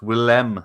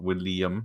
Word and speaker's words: Willem: It's Willem Dafoe, isn't it? Not William or Will.I.am.